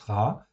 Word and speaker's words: רע: le monde donc RA le mot en fait hébreu RA qui se prononce RA ça s'écrit avec un